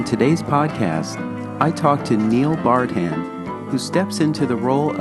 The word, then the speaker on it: Neil Bardhan: And I'm here with the Executive Director of Broad Street Review, Neil Bardhan.